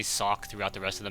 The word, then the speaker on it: Socke: of the match um some people say my German pronunciation of zet is all right but apparently a lot of you guys out there are like don't even try to say it just pronounce sock like the thing on his foot um trying to give